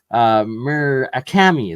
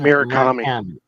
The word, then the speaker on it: Murakami: I can never pronounce his last name right. Murakami. There we go. Aaron Murakami.